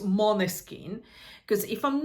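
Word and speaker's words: Måneskin: won uh with um mon skin that's how it's really pronounced I know that it's written man skin but it's actually pronounced mon skin cuz if I'm not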